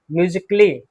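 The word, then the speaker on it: musically: तो जितने भी शब्द हैं जिसमें ICALLY आता हो उसमें ए क्या है? साइलेंट। माइंड में रखिएगा, ध्यान रखिएगा। ए क्या है हमारा? साइलेंट है। बेसिकली, लॉजिकली, म्यूजिकली, रोमांटिकली।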